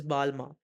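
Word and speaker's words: Balmain: उस way में समझ लो, but the correct pronunciation is Balma, right?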